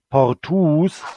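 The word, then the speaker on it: portūs: Der Genitiv sieht gleich aus, wird aber lang gesprochen. Portus also.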